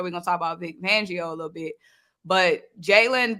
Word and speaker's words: Fangio: Fagnolio, Fangio. Hey, how you say it? Van? It's Fan? Fangio.